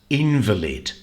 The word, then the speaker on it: invalid: it's an adjective but this word is also a noun invalid and the stress here is on the first syllable in in the lid